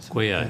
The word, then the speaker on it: GUIO: GUIO, that's how you say it, okay, all right.